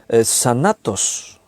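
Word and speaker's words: θάνατος: Y cuando dice mortal, la palabra mortal ahí es sanatos, se escribe así, D-S-A-N-A-T-O-S, sanatos, que significa muerto, mortal, eso es lo que significa.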